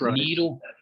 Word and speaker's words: Nyro: You've You've pronounced her name wrong. It's Nyro."